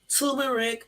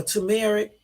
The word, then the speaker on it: turmeric: my doctor my cardiologist told me to take turmeric or turmeric that's how you pronounce it with the common engine what is